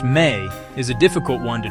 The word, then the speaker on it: me: The word me pronounced may is a difficult one to translate simply.